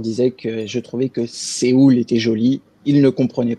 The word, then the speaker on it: Séoul: Depuis tout à l'heure, tu prononces Séoul. Ouais. Alors en fait, c'est la vraie prononciation de la ville.